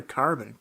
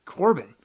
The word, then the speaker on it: Corbin: Is it Corbin or Carbon? Corbin.